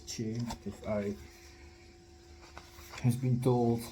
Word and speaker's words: Choi: And it spells like Choi, but it's pronounced as Che, if I has been told lately.